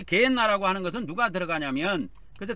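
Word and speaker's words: Γέεννα: 그래서 헬라어로는 이게 게헨나로 발음이 되어 있어요. 게헨나.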